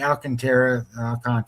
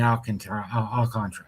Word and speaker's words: Alcantara: You have Sandy Alcantara, whatever you want to call him. I always say Alcantara because that's how it's spelled.